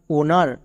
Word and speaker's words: honour: এখানেও দেখো এইচের উপরে ও আছে, এখানেও এইচ সাইলেন্ট, যেমন GHOST গস্ট। একই রকমভাবে HONOUR ওনার, এখানেও কিন্তু এইচের উপরে ও আছে, তার মানে এখানেও এইচ সাইলেন্ট।